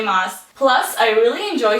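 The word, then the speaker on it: Maas: Moss. Plus, I really enjoy saying it. Throne of Glass by Sarah J. Moss. It's It rhymes. Glass mass.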